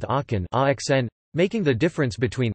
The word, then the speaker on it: Aachen: The word arken arcs is thus pronounced acn, which makes a minimal pair with aken axn, making the difference between c and x phonemic, rather than just allophonic, for these speakers.